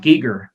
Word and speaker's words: Giger: kind of talked about it but is it geeger or geiger how do you say it's pronounced giger eager he basically they took his hellscape vision